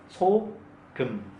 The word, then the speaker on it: 소금: S sound short, vowel O, 소. Understand? 기역 sound, vowel vowel M sound, 소금.